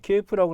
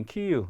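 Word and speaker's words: Київ: 여기 키예프라고 나왔는데 이제 키이우, 리뷰는 제대로 나왔네요. 이제 키예프보다는 키예프는 이제 러시아식 발음이 됐고 이 수도는 이제 키이우라는 이름으로 우크라이나식 발음으로 이제 맞춰야 된다라고들 얘기를 하고 있죠.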